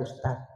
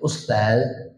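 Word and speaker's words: أستاذ: Guru ya dia nggak ada ustad. Cuman hati-hati nyambat ustad lah, bujur. Ini kadang di SMS ustad tai. Tai itu nah, dibacanya i tai berarti itu. Kalau nyebut ustaz itu pakai zal, jangan pakai dal.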